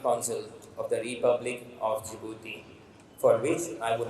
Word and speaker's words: Djibouti: call it the jouti so the pronunciation is jouti and not Djibouti so that is the